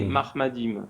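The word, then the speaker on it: מחמדים: déjà faut savoir que c'est pas exactement Mohamed on retrouve mais mahmadim différence dans la prononciation du coup en fait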